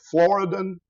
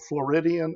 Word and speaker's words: Floridan: The most important one is called the Floridan aquifer. Some people mispronounce it as the Floridian aquifer.